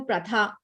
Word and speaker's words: Pratha: I remember buying a Pratha, right? That's how you pronounce it.